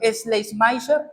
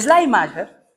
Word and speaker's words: Schleiermacher: Lian, te voy a pedir que me ayudes con la pronunciación. ¿Schleiermacher?